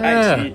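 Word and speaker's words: 爱奇艺: Ai Chi, yes. That's better pronunciation, yes.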